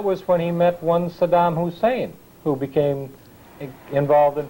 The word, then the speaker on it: Saddam: pronounced mispronounced his name he always called him Sodom uh as though he were trying to call him a sodomite I don't know but